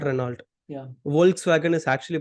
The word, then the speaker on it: Volkswagen: Volkswagen is actually pronounced as Volkswagen.